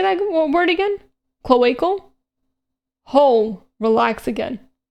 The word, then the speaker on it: cloaca: Cloacal? Whole, relax again. Cloaca? It's a, how do you pronounce, cloaca, right?